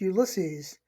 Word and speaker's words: Ulysses: Ulysses is pronounced Ulysses. It's a derivative of the Greek Odysseus, but in Latin it's Sorry? Ulysses. Hence it's pronounced Ulysses.